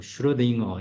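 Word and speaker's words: Schrödinger: 이제 그게 이제 기본적으로 머릿속에 다 뽑고 봐야 되는 그래서 수퍼 포지션 관련돼서 이제 신레딩거가 이게 우리는 슐레딩거라고 한글로 쓰는데 영어 발음이 뭐 슈러딩어 이렇게 반응도 하고 그렇더라고요.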